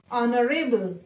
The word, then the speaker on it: honorable: Honorable, H is silent.